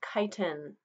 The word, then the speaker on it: chitin: It's pronounced chitin.